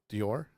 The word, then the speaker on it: Dior: annual appearance and Lady do said it is pronounced d or didn't isn't that how I said it yes Dior Dior yes I thought so she's helping you